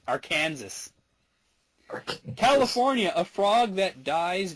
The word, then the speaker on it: Arkansas: Arkansas, it is illegal to mispronounce Arkansas. Arkansas. Arkansas.